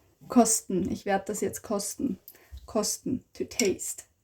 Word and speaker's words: kosten: Ich werde das jetzt kosten. Kosten. To taste. Kosten. Sten. Kosten.